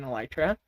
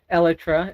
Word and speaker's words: elytra: can fly with an elytra sorry I just pronounced that incorrectly every time I mentioned it elra is the correct pronunciation so there's electri flight